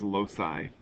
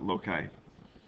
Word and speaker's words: loci: The plural is loci, or some people pronounce it loci.